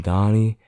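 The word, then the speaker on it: Donaghy: to be talking about is coming from tim donney i believe that you say his name d-o-n-a-g-h-y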